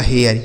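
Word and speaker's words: hare: तो एच से हो गया आपका ह इस ए का उच्चारण ए हो जाएगा। तो ये हो गया आपका हया। आर ई से र हो गया। यह लिखा गया आपका हेयर। ये देखिए इसका सही उच्चारण।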